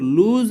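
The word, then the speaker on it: lose: एंड और लूज our moral fibre, देखिए यहाँ पे लिखा है लॉस, लेकिन इसकी सही प्रोनाउंसिएशन लूज होती है, ठीक है ना।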